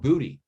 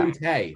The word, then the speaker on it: Boutte: They kept on saying Kayshon Booty.